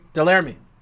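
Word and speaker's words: Delerme: Delamere? Delarmy.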